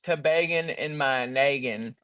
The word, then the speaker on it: Toboggan in My Noggin: very good job on Toboggan in My Noggin. Is that how you say it? Toboggan in My Noggin? Okay, perfect. No, it's Toboggan. actually, sorry, it's Toboggan in my naggin. No Sorry. Baltimore accents.